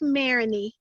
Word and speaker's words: Marigny: Is it Marigny? Marigny, yep. How do you say it? Unmute yourself. Do you know how to unmute? Well, I just said that. All right, hold on. There you go. Yes, I was trying to unmute. It is Marini. Marini. Oh, you said it. Yeah, Marini. So your G is silent? Yes, it is. Marigney.